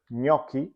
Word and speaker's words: gnocchi: When you see a GN in the spelling, as in the word gnocchi or agnello, the GN is always pronounced as a double consonant sound, and the same goes with GL, as in the words aglio or maglia.